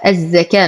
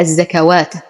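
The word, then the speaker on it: الزكاة: الخنجريه موجوده بعد الكاف الزكاه نلاحظ ان الالف بعد الكاف وليست بعد الواو فلو كانت بعد الواو ل قراناها الزكوات ولكنها بعد الكاف اذا نقول الزكا وهذه الواو لا تنطق واركعوا همزه الوصل تسقط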